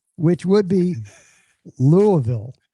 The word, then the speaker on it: Louisville: That word, think of it as only two syllables and it's very guttural.